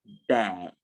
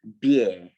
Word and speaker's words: bear: You pronounce it as bear, not beer.